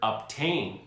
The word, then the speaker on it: obtain: Take the word obtain, for example. A T follows the letter B in the word obtain, but we pronounce the letter B.